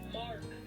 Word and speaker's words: marc: let's look what this word is how to pronounce it sure it's mark m-a-r-c mark mark mark really simple just wanted to make